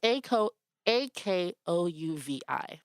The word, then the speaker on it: Akouvi: So like Simbi, Akuvi, it's pronounced phonetically. It's Akouvi. Okay, Akuvi.